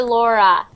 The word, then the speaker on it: Laura: next one louder so this name is pronounced like uh that Au is pronounced like a or sorry like Laura Laura Laura Laura it's like my name my name